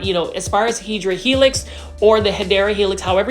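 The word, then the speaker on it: Hedera helix: This is a Hedra helix. Say it with me. Hedra helix. Okay. I'm not going to be as obnoxious today about the hideera helix, which is the correct way to say English ivy.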